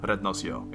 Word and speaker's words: RednasYo: So, you pronounce my YouTube name RednasYo. It's the Dutch pronunciation, it's where I was born, and the English/American pronunciation of Rednas, just, you know, it's not that fitting, it has ass in it, it's just not that cool.